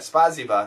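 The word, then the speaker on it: спасибо: do not speak Russian I know spaza no no spaza yeah spasiba thank you and dos van goodbye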